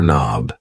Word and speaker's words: knob: door knob a door knob yes the K and knob is silent and these things here